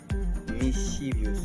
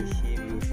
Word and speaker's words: mischievous: J'entends souvent les gens prononcer comme mischievous. Okay? Mischievous. Non, je vais dire mischievous plutôt mischievous. Okay? Mischievous is the good way to pronounce this word.